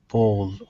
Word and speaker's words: bowl: chat window Amed yeah bow bowl bowl okay right so o and the L is very very light bow you basically don't